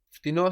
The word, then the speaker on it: φτηνό: Φτηνό has the accent on the end, so it's slightly different when we say cheaper.